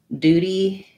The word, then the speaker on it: duty: will use both but more typically americans will use duty with just the ooh so like you like you wrote it duty instead of do you d you will hear both this is more typical though of british so we say words